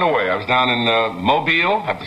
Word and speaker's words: Mobile: I was down in Mobile, I have to say it right, Mobile, Alabama, for the Junior Miss Pageant last evening.